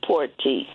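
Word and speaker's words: Porte: It's P O R T E. Okay. And it's Cecil Porty.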